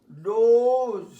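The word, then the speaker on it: dose: Prone, probe, globe, rope, হোস, role, পোক, ডোজ, ডোজ, জয় শূন্য।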